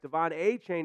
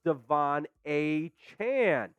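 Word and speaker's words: De'Von Achane: Dolphins rookie running back Devon a chain informed the team that moving forward he would like his name to be pronounced Devon a Chan so not the exact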